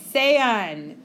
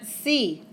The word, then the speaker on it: sea: It's not Sean, and it's not si. Sea and sean, because we pronounce every vowel in Spanish.